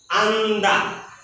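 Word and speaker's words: 앉다: সরেয়া, তার মানে আ, আর এটা নিয়ন, ন, আর এটা দা, আন্দা। তাহলে কি হবে? আন্দা। এই জিওত কিন্তু উচ্চারিত হচ্ছে না।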